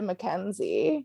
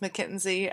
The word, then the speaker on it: McKinsey: was very tied to mackenzie future ariel here i know it's pronounced mckinsey i don't know what's